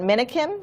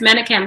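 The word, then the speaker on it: Menakem: his last name but minikin is that how you say it i think it's mannequin yeah yeah it's a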